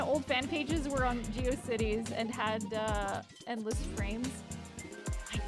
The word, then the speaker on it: GeoCities: I don't fucking know why, but I pronounced it Go Shitties.